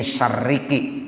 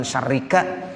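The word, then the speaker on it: شَرِّكِ: Ini syarriki dibaca ki, kenapa? Sebab mukhatabnya kepada ardun. Ardun itu bentuknya muannas. Begitu ya Pak? Ya, karena bentuknya muannas jadi bacanya min syarriki. Gitu. Jadi kalau ada yang nanya kok syarriki bukan syarrika?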